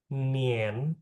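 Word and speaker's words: 年: Tahun 2025 artinya tahun 2025 ling u nien. Nien itu tahun nien.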